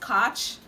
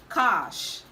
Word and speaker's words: cache: word is commonly pronounced kach or cache you might be tempted to call it cachet because of the e but the right to pronounce this word is kash kash kash let's go to our